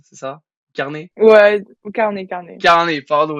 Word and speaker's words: Carnez: nouvel épisode de rookies avec alors j'espère je prononce bien océan carnaise c'est ça carnet ouais carnet carnet carnet pardon excuse-moi bon carnet